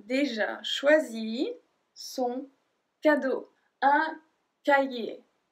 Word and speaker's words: cahier: Un cahier. Cahier. So we don't pronounce the H.